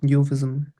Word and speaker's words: euphemism: अच्छा, ये यूफिज्म, इसको यूफिज्म भी बोलते हैं, यूफिज्म भी बोलते हैं, इस पे बस अब ई साइलेंट कर दो ना बस, बाकी सब सेम है। यूफिज्म, यूफिज्म, मिज्म भी ओके।